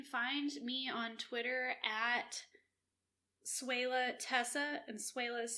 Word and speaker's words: Swehla: Yes, you can find me on Twitter at Suela Tessa, and Suela is spelled SWEHLA.